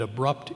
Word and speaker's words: abrupt: You can't pronounce the word abrupt that way. It's accented normally in the second syllable, or always.